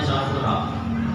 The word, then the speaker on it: Safura: beliau namanya Sur sofurun atau sofur bacanya Safura jadi putri beliau dua